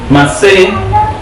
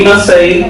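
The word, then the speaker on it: מסעי: Masé, repito, de acuerdo a las raíces hebreas. Y Masei, que la pronuncian otros instructores, otros maestros.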